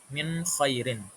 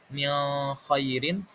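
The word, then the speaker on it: مِنْ خَيْرٍ: Min khairin. Jadi kita baca nun sukunnya itu jelas enggak dengung. Enggak mendengung kayak min khairin, tapi kita baca jelas min khairin.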